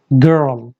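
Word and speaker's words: girl: अगर एल से पहले आर होता है तो उस केस में भी एल को हम डार्क एल प्रोनाउंस करते हैं। This one इज my favourite, गर्ल। कोई कितनी भी अच्छी इंग्लिश अगर सीख लेता है अमेरिकन एक्सेंट, बहुत कम लोग इसको सही प्रोनाउंस कर पाते हैं अमेरिकन की तरह।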